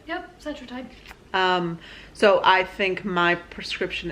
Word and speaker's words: Cetrotide: Yep, Cetrotide.